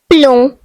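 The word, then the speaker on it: plomb: The next French word is pom which means lead. The silent letter is B.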